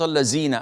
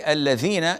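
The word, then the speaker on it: الذين: A lot of, even the Arabs, yani our brethren from the Arabs, they say Salat al-Lazina an'amta alayhim, al-Lazina. And this is problematic. They can say al-Ladhina elsewhere, but when it comes to the Fatiha, due to their laziness, they don't.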